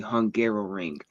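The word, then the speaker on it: Hungaroring: don't know the name, it is called the Hungarrow Ring.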